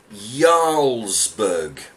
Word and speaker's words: Jarlsberg: last week English heart says its core is pronounced Jarlsberg okay there you go